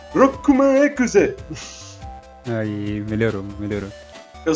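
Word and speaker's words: ロックマン: O certo é Rokuman Ekuze!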